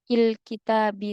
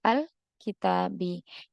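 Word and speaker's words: الكتاب: Nah, maka tidak kita baca il kitabi tapi al kitabi.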